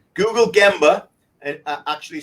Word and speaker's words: gemba: google it right google gemba and actually sometimes in Japanese wrote ganba as well that's not wrong it's just a different pronunciation I believe or dialect but ghin burro gemba